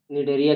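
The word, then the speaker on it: Cnidaria: अब इसको में है कि इसका नाम निडेरिया क्यों पड़ा, तो इसमें क्या है कि सी साइलेंट है और नीडो नीडो नीडोब्लास्ट नीडोब्लास्ट नाम,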